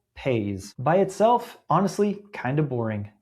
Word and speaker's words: Paze: Okay, what is Paze? Say it like "pays", P A Y S.